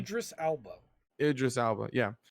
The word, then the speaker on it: Idris Elba: spent so much money on getting people like Zidris Alba, or I don't know how to say his name. Idris Elba.